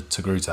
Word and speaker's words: Togruta: I'm going to pronounce this the best I can. She is a species? A togruta.